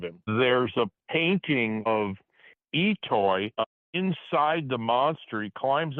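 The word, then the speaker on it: I'itoi: Etoy. I don't know how to pronounce it. Etoy.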